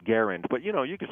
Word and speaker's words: Garand: And he said, well, when I went to his house, he said it Garand.